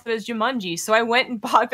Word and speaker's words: Jumanji: I've watched the movie 1,000 times, and I swear to God, in the movie, they do pronounce it as Jumanji, so I went and bought it and looked it up.